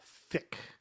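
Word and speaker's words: Fich: I chose to go with Fitch because it's actually pronounced Fick, the old Austrian family name from before my great-grandfather emigrated from Austria to Canada. Mm-hmm. It was spelled F-I-C-H.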